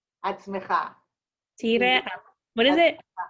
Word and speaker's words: עצמך: תהיה עצמך.